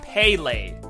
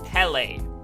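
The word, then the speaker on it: Pele: research I found that the correct pronunciation for the word is pale not Pelle pale so I do pronounce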